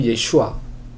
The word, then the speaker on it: 예슈아: 제수스 뭐 이러잖아요 근데 알고 봤던 예수님 원래 예슈아 여호수아 호세아 예슈아 그 나사렛 그 갈릴리 지방에서 아자를 빼기도 한다고 아자가 이제 발음이 이게 소리 바름이 약하게 나서 예슈 이렇게